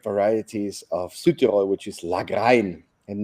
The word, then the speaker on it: Lagrein: And we have one of the autochthonous grape varieties of Südtirol, which is Lagrein, and not as my Italian friends are saying Lagrein, it's pronounced Lagrein. Ecco.